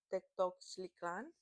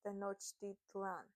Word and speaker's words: Tenochtitlan: to be back then Tectoctlan, yes, Mexico City now, and actually it's pronounced Tenochtitlan. It's Tenochtitlan, which is what is Mexico City now.